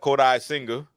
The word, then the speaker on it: Kodai Senga: Kodai, one word. One word. Senga, the other.